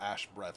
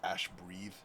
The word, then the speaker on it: ash breathe: It's not ash breath; it's ash breathe.